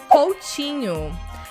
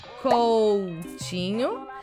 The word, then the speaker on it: Coutinho: Coutinho, we say Coutinho, and the T in Portuguese, especially in the south and southeast of Brazil, we pronounce like this, like chi. Instead of T, we say chi.